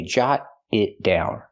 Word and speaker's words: jot it down: So, I say jot it down. Pronunciation. Jot it down. We hear the t and jot change to a fast d because now it's between vowels.